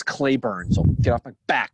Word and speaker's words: Cleburne: curious i know it's clay burn so get off my back binger apparently it's pronounced clay born in the south oh okay here we